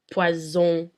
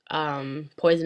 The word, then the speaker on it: poison: When there's only one S, it's pronounced as a Z. For example, in the words poison and désert, poison and desert.